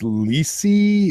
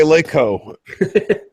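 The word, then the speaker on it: LeEco: It's Lisi? Is that how you say it? Okay, Leico. Leico.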